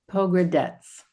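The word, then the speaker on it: Pogradec: to stay in Albania because you left this pronounce that lake town again. Poggradets. Pogrades.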